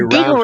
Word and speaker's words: Deagle: But the It Deagle rhymes with report, Beagle. Beagle, Deagle, the Deagle report